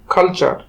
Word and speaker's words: culture: আর একটু উদাহরণ দেখি, CULTURE, কালচার।